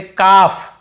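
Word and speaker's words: calf: नहीं पढ़ना यहां पे एफ से पहले तो भी नहीं पढ़ते जैसे काफ काफ काफ हाफ हाफ काफ हाफ एल को यहां पे नहीं पढ़ना है काल्फ हाल्फ नहीं पढ़ना है काफ बछड़े को बोलते हैं हाफ यानी आधा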